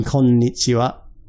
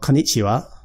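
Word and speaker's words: こんにちは: So before, when you heard me say konnichiwa, there's actually an n in konnichiwa. So it's not konnichiwa, it's konnichiwa.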